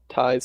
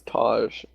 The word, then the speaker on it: Ty: But yeah, they're a Polish team, and I was pronouncing Ty's name as Taj. It's pronounced Ty. There is a J in it, so it's understandable.